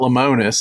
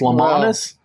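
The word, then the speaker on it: Lemonis: can't pronounce anything well it's not lonus it's lonis lons he needs to go Marcus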